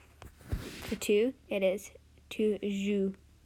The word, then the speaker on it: joues: Notice how even though it has an S on the end, the pronunciation doesn't change, and it's a very common mistake in beginners to want to say the S at the end of the word.